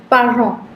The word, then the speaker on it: parents: Parents. Parents. The T's are silent. So it's parents. En is on.